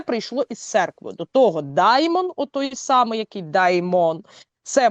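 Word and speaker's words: δαίμων: Як перекладається з грецької слово демон? Яке производне слово демона? Даймон. Даймон, да? Ну, типу в такої в такій вимові.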